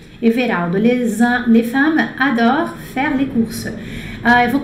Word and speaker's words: adorent: Les femmes tá no plural, então esse adore tem que ser ENT no final. Adore. A pronúncia é a mesma, mas tem que ser com NT.